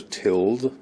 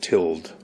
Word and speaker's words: tilde: line it's called the tilled i think it's spelt tilde but it's pronounced tilled i'm incrementing a counter